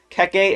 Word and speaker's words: Keke: Okay, Keke, extremely polite. Yes, that's how you pronounce it.